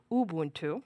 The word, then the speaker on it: Ubuntu: you're in Ubuntu sorry I should correct it because otherwise God has someone will call me Ubuntu that's the correct pronunciation um it will notice